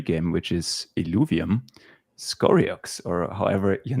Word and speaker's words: Scoriox: from another web 3 game which is Ovium Skorox or however your name is pronounced.